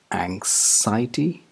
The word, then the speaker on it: anxiety: get started number one a n x i e t y is this anxiety wrong i'm afraid it's anxiety anxiety it's not psy it's zaya zaya anxiety anxiety here's an example